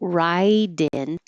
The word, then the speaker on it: write in: So ride in, write in, the T changes to a D. There are extra letters in the way, so it might be hard to notice, but the silent E is silent. So now write, the I before it, I is voiced, and the I and in after it is voiced in. So just like water, ride in, ride in.